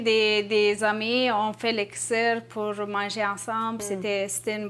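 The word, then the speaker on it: kısır: D'abord du kissir et également une recette de l'ali nazik. Oui. Oui, je l'ai bien prononcé.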